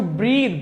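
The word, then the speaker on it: breathe: टू ब्रीथ, ब्रीथ होता है सांस लेना। अभी हमने ये भी डिस्कस किया ब्रेथ और ब्रीथ में क्या फर्क है, प्रोनाउंसिएशन में भी डिफरेंस है इन दोनों में, और ऑफ कोर्स पार्ट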